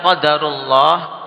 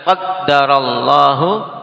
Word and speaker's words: qadarullah: Nah, dalam pengucapan qadarullah waya fa'al ada dua cara baca. Nah, boleh seorang mengucapkan qadarullah wayaa fa'al atau dengan mentasydid dengan qaddarallahu waa fa'al.